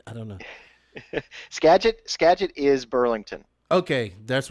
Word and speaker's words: Skagit: this next race is it's uh i can't pronounce this gadget uh yakima yakima why did i say sketch i don't know skagit skagit is burlington okay that's where i was